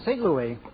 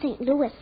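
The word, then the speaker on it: Saint Louis: the strongest horse in St Louis excuse me Mr Castello but it's pronounced St Louis that's funny now you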